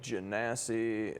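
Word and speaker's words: Genasi: Dragons unique races like jasie or jasi I've seen it pronounced both ways and those are like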